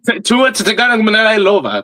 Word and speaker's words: Tua Tagovailoa: Tua Tagovailoa. There you go. That's how you actually pronounce his name.